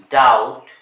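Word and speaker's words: doubt: পরে যদি টিটি থাকে বি এর পরে যদি টি থাকে তখন এই বিটি হবে সাইলেন্ট যেমন এর উচ্চারণ বিটাকে বাদ দিয়ে বলতে হবে যে এটাবি বাদ দিয়ে বলতে হবে ডাউট ডাউট তাহলে আমরা শিখলাম এম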